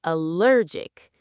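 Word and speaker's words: allergic: It's hard to pronounce Let's break it down: AL-ler-gy And the adjective is Al-ler-gic (AI-LER-gic). Notice how the stress changes!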